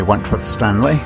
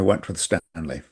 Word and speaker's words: Wentworth-Stanley: This is Wentworth Stanley. I'm the fellow who has a hyphen in my name. The hyphen is silent, but I am anything but that. This is Wentworth Stanley and we are engaging in a new series.